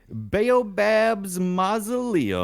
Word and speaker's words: Baobab's Mausoleum: Baobab's Mausoleum? Baobab's Mausoleum.